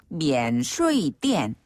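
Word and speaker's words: 免税店: 많은데요 정네 면세점을 중국어로는 미엔 슈이 띠엔 아 이것도 좀 비슷하네요네 비슷하죠 그 면세점의 한자어를 그대로 중국식으로 발음해서 미엔 슈 띠엔이라고 해요 어 이게 근데 그 성조가 오르락 내리락 하는게 있어서 좀 어렵습니다 천천히 배 볼까요네 첫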